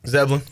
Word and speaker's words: Zebulon: Zebulon. How do you say it? Zeblin. Zebulon. Zeblin.